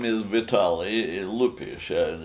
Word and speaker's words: Lupish: My name is Vitaly Lupish, and it's spelled Lupish, and the first name is Vitaly.